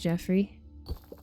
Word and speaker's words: Joffrey: Joffrey. I'm pretty sure that's pronounced Jeffrey.